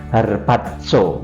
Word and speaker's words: harpazo: dipakai dalam Alkitab yang kalau dilafalkan itu tepatnya harpatso ya jadi harpatso itu pelafalannya kalau tulisannya harpato begitu saudaraku nah di dalam